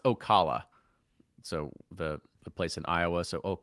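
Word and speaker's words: Osceola: It's pronounced Ocala.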